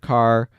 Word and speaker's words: char: short for character so some people pronounce it car I usually say char I usually don't say